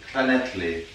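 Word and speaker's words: Llŷn: It's Llyn. Llyn, okay, but it's spelled like the Nelly.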